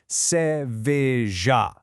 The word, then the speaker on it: cerveja: The pronunciation is cerveja. Notice that rhythm, three distinct syllables, cer-ve-ja.